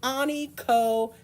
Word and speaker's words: onychophagy: But we pronounce it onychophagy.